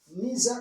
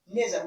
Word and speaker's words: neither: not voice this neither neither or neither you can say neither or nether we can pronounce in two different ways neither or neither you